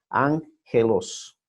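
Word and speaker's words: ἄγγελος: Y cuando están dos juntas, dos gamas juntas, se pronuncia NG, ángelos.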